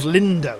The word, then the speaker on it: Lindo: Old Lindo, that's it. Rhymes with window.